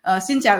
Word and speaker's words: Xin chào: Xin chào is how you say hi in Vietnamese.